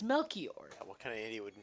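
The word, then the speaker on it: Melchior: I was like, "Oh, it's not Melir, it's Wait, is it C H I R?" Yeah, it's Melor.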